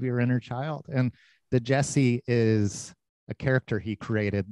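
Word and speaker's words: Djesse: records that he's put out are called the jess it's spelled d-j-e-s-s-e and he's done the jesse volume 1 the jesse volume 2 into jesse volume 3.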